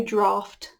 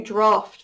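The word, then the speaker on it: draught: That is draft beer, and they pour a draft beer with these handle things. I don't know how to help you. D-A-R, draw, fine. U-G-H-T, ignore the spelling, it's F-T, draft. Like when you write a draft for an essay or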